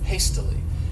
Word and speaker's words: hastily: next adverb is hastily this word has three syllables and the stress is on that first syllable hastily and what it means